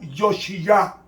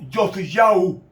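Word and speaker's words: יאשיהו: vamos a leer, que se pronuncia en el hebreo Yoshiyah o Yosiyau, que significa Jehová sostiene,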